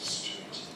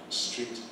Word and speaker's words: street: And it's of course not street. Street. Street. Okay. Just one syllable street. So the whole thing is Oxford Street.